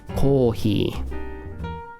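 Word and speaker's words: コーヒー: say coffee in japanese you say kohi whole key that's it remember i told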